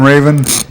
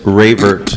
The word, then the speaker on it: Ravert: Raven? It's Ravert, and I won't say anything about phonics either. So, it's Ravert.